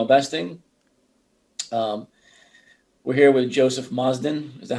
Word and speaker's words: Joe Mozden: uh from gmail investing um we're here with joseph mazdan is that how he pronounced your name joe it is but i'll